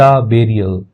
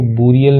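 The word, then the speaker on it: burial: ही वॉज, वह था, एट द बेरियल, ठीक है, इसको बुरियल नहीं पढ़ते, बेरियल पढ़ते, यानी होता है जहाँ पे दफन वगैरह करते हैं, तो वहां पे ये था।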